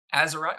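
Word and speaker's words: Atzerodt: name how do you say aerot aerot y aerot okay good I said it right him just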